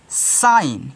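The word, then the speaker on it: shine: एच आई एन ई अब last में ई है तो साइलेंट कर दो तो इसको आप पढ़ोगे साइन क्या पढ़ोगे साइन पढ़ोगे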